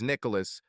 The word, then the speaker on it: Nicholas: Except for Angela, I was always Nicholas, pronounced with all three syllables, not two syllables merged.